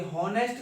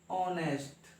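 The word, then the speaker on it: honest: चलो इसको लिख के देखो, ये हॉनेस्ट नहीं होता है, एच यहाँ पर साइलेंट होती है, क्या बोलोगे, ऑनेस्ट।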